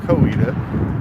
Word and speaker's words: Coweta: Some might call it Coweta, or Coweta. We're gonna go Coweta. I believe that's how it's pronounced.